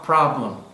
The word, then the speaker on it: problem: opinion piano practice problem now we don't say problem but pronunciation is p-r-a pro problem